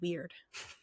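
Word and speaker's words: Wyrd: and other mythologies and it's not pronounced word it's pronounced weird it's like it's not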